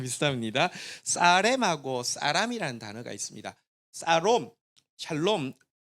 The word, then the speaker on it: 샬롬: 단어 평강이라고 한번 따라가겠습니다 샬롬이 좀 히브리어 발음으로 좀 비슷하게 하면요 한번 따라가겠습니다 사롬 근데 여기 어 형제